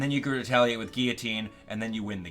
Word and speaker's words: guillotine: You can use Guillotine, and Guillotine, don't pronounce it Guillotine, come on now. Get cultured. Anyway, Guillotine is a one-hit KO move with 30% accuracy.